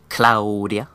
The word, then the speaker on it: Claudia: town and yes uh Claudia's name does have to be pronounced like that Claudia cuz it's just kind of fun to say actually yeah so basic